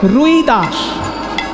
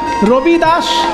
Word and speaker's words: রবিদাস: সুন্দর ভজনটি যিনি লিখেছেন বাবা তাকে বাঙালিরা বলে রুইদাস কিন্তু হিন্দি উচ্চারণে রুইদাস নয় হিন্দি উচ্চারণে রদাস র হর আসলে সেটা হবে রবি রবি মানে সূর্য রবিদাস সূর্যদাস সেটা হিন্দি উচ্চারণে রবিদাস সেটা রদাস আর